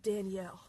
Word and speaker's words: Daniel: So this episode, the designers got to go to a fancy restaurant in New York City called, it's spelled Daniel, but they all pronounce it Danielle.